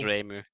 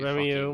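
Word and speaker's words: Reimu: You can pronounce Remu. You Remiu.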